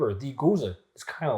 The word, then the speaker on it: Gose: Says this is our interpretation of Gose, pronounced Gose, a traditional German-style wheat beer brewed with coriander and salt.